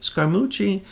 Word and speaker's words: Scaramucci: So this person, whether it's Scaramucci, how do you say his name? Scaramucci.